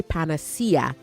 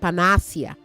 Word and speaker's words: panacea: And um The Spring of Life College right, I would say panacea, not panacea. Panacea, cea, okay?